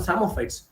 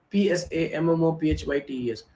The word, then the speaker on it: Psammophytes: These plants that grow in the salt areas or the dune areas, we call the samophytes. Psammophytes. Samophytes. The P is silent there.